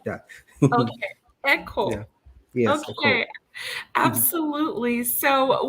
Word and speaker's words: Ekow: the legend ecal i do i believe it's pronounced yes it's called it's echo but i'm very used to it i have i have a lot of friends um in the diaspora and they call me equal so um i would never fall to you